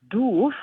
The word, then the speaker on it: doof: is very hilarious, because doof, written the way it is, but pronounced doof, is like a word for to be stupid or daft.